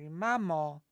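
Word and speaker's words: мама: call your mom your mama or the more again handwritten M right M the accent is on the first a m makes sense it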